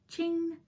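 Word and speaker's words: Qing: this body is um king fibers that's q-i-n-g ching king i've heard lots of people pronounce it lots of different ways and the pink and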